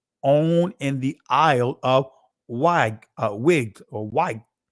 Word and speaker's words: Wight: the Isle of Wight, excuse me, actually White. That's what it's pronounced, White. I see the GH and I'm just focusing on a G, but it's actually White, right? And on the mainland, right? Just not used to seeing white spelled this way, right? Used to WHITE, but not WGHT. It's still pronounced the same way, white.